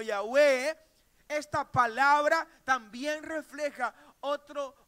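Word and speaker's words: Yahweh: jehová jehová yagüe o está en estas cuatro letras del alfabeto del alfabeto hebreo a las cuales se le pusieron las vocales de la palabra adonay para que se pueda pronuncia como ya ve esta palabra también refleja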